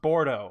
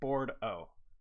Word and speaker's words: Bourdo: It's pronounced Bordeaux. Like board as in wood and O at the end.